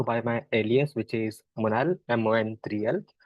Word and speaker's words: MON3L: I also go by my alias, which is Monal, MON3L. A lot of people don't pronounce my alias properly, so here I go again. It's Monal.